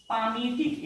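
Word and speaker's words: palmitic: इसका फेमस नाम है पामिटिक एसिड। एल साइलेंट पढ़ते हैं।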